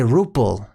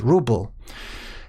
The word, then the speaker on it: ruble: Some people say ruple with a p, but it's ruble.